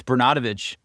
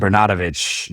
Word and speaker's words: Bernatovicz: You want to pronounce it for us? It's Bernatovicz. It's all good. Bernatovicz.